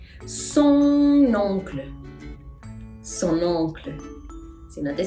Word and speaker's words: son oncle: Son oncle. Son oncle.